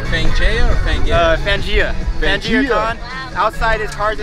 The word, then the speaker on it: Fangaea: Keep pronouncing. Fangaea or Fangaea? Fangaea.